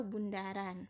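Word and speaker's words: ∘: dengan huruf Oh ya tapi kita tidak membacanya Oh melainkan komposisi atau Bundaran Hai fungsi baru yang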